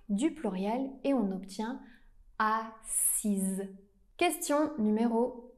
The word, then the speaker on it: assis: La bonne réponse c'est mes amis se sont assise à côté de moi.